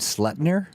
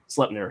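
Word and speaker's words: Sleipnir: many legged horses named slutner slutner Yep this is like slapped or slip God yeah right it's pronounced like the Yiddish schlep yep exactly um and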